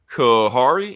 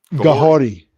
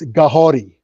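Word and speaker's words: Kahhori: Okay, Kahari. Am I saying the name right? Gahori. Kahori. Okay, it's Mohawk. So the Mohawk language, they pronounce their K's like G's, and their R's like D's. So it's Gahori.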